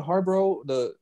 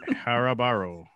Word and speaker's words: Haribo: It's how do you say the Harbro? Is that how you say it? Harbro like eggs? The Haribo.